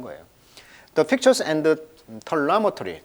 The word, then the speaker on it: telemetry: 마찬가지. telemetry 그렇게 발음을 하면 되겠네요. 그래서 이제 이 원격으로 이제 측정을 했다는 거예요.